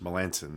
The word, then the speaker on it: Melancon: who's from the Nationals Melanson that's how you say his name Melanson Melancon I like better Melanson